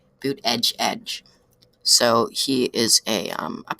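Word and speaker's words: Buttigieg: judge booth ed judge if you want to know how to pronounce it read Petty's article it's in the title actually boot edge edge so he is a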